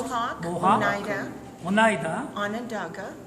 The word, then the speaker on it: Onondaga: Could you pronounce? Mohawk, Mohawk, Oneida, Onondaga, Onondaga, Cayuga, Cayuga, Seneca, Seneca, and Tuscarora.